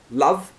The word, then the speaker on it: love: then it's that laugh but again love is very short a like an up a love so you've got